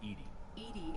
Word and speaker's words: EDI: cerberus's resources this is why are you named edie is the phonetic pronunciation of edi that is an acronym where